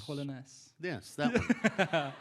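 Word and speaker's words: Trollenäs: Am I pronouncing these right? Yeah. Really? Alinge. Yeah. And then Trianus. Trollenes.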